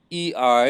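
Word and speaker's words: ει: aisle next one is e i as in eight o i as in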